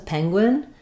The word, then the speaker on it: penguin: using the n sound, the word penguin is stressed on the first syllable. Second syllable gwin is shorter and unstressed. It has the i vowel like it. It's a penguin.